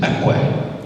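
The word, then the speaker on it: ikwe: We ask our Spirit, and if you ever think of, in our language, we call our women kwe, and the real pronunciation is akwe.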